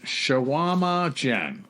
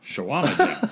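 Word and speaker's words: Chequamegon: Where I'm from, we pronounce it Shawama Jen. Shawama Jen.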